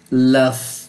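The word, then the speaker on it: laugh: এরপর হচ্ছে এল এ Yuji H লাভ। এটার উচ্চারণ কি হবে?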